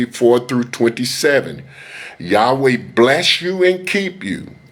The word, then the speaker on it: Yahweh: Yahuwah means nothing in Hebrew.